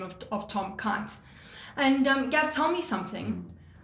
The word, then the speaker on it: Keight: But with the name Tom Keight, he couldn't stand how people pronounced our surname. And trust me, throughout high school, primary school, you name it, Right. my surname was always pronounced Knights or, something like that.